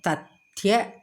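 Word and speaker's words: तथ्य: When the last letter of a word is conjunct, it is pronounced fully.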